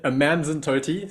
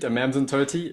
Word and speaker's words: Amanzimtoti: And how do you pronounce this town you live in? I'm in Amanzimtoti, so the it means the water is sweet. Amanzimtoti.